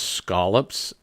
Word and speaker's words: scallops: New England lobsters these are scallops and they're pronounced scallops s-c-a-l-l scallops scallops there's muscles here um this